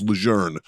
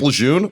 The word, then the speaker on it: Lejeune: say lejeune you say lejeune because that's how their family said it's legerne and every marine ever was like you mean camp lejeune okay if my family